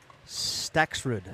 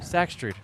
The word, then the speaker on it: Staksrud: Staksrud. Staksrud.